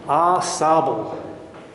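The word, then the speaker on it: Au Sable: It's actually pronounced Ossibel, French for sand.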